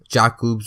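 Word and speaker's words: Jakob: Jack Jacobs park jacoub how it's pronounced in Switzerland yeah and that is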